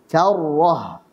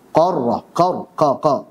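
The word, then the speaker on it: كَرَّة: Kita baca yang benar. Karrah. Karratun khasirah. Kesalahannya adalah qarrah. Salah. Ka harusnya.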